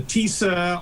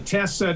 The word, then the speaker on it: TISA: this year was the we call it, the TISA or the Tessa. Depending on how you pronounce it, it's the Tennessee investment